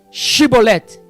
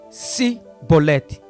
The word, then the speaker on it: Chibolete: Shibolete, o código da vida. Era esta palavra que os efraimitas não conseguiram pronunciar. Eles apenas diziam Sibolete.